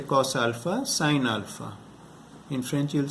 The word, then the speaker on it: sine: In English it's pronounced sine. So you'll say, in English you'll say cos alpha, sine alpha.